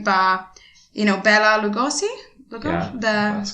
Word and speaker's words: Bela Lugosi: So I don't actually know how to pronounce his name, but Bela Lugosi, Yeah, that's correct.